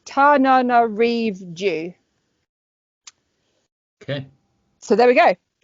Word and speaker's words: Tananarive: So I'm going instead for Summer Ghost Stories by, and I have to make sure I pronounce the lady's name right, so I wrote it down. It's Tananarive.